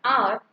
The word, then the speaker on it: hour: In the above example, the words honest and hour start with a consonant H, but when you pronounce, the beginning sound is of a vowel.